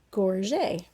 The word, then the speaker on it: gorget: the french language and in french when you have an e t it makes the a sound so we say this word gorget let's see and here